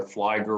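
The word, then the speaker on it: Fligor: know that it's pronounced Nisa rhymes with Lisa Flagger rhymes with tiger uh you don't you don't know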